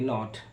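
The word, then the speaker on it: knot: कब साइलेंट होता है एन से पहले के आता है तो के को पढ़ा नहीं जाता है जसे के एंड डबल ई नी के एन आई एफ E knife के एन ओ टी नॉट के एन ओ डब्लू ई डी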